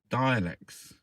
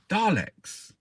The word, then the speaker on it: Daleks: Doctor Who versus the Daleks. This felt more like a... Oh, they're on about the woke. Doctor Who versus the Daleks. There's an A there. I always thought it was dialects. Daleks.